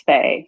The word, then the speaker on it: Faye: Is that Faye or Fia? Let me make sure I pronounce that correct. It's Faye.